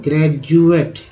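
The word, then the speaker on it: graduate: कैसे उच्चारण होता है, ग्रेजुएट, ठीक है, सिंपल सा वर्ड है, सभी लोग जानते हो, ग्रेजुएशन। तो ग्रेजुएट वर्ड में डी का उच्चारण ज होता है।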